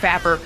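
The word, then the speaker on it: PHapper: not, it's spelled, okay, I say it P-Happer, it's pronounced Fapper.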